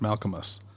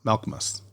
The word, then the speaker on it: Malchus: down but number one you are mispronouncing malus's name it's not a three cable word malchus it's a two CLL word malchus not sure if you're